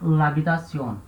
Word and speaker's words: l'habitation: Então, a palavra que termina com a vogal, ela vai perder a sua vogal. Vai ficar l'habitation. Você lê como se fosse uma coisa só.